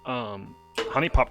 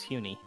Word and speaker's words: Honey Pop: Wait, is it actually pronounced honey? Yeah, Oh, I assumed it was Huni. it's Honey Pop, baby.